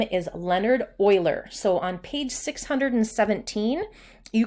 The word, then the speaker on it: Euler: Euler and it's spelled E you le are pronounced Euler so if we count the number of vertices